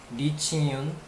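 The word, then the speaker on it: 李青云: 알고 있는 사람도 있겠지만 이청운이라는 사람, 이청운 뭐 중국 발음으로는 리칭윤 물론 발음이 다르겠지만 리칭윤이라는 이청운이라는 한 사람인데 이 사람이 이제 약초를 먹었다 이거죠.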